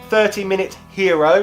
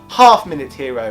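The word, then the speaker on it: Half-Minute Hero: aren't I quite like this one 30 minutes hero which is worth checking out no that's wrong half minute hero is apparently how it's meant to be pronounced but basically it's kind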